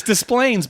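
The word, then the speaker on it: Des Plaines: casino Rivers Casino in displays Illinois I hope I pronounce that you know it's so funny because no it's with an S it's displays but I the thing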